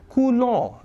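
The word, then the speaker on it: coulomb: kulong this m is B is silent s is silent so it's pronounced as kulong it is named after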